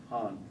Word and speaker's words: Han: Han.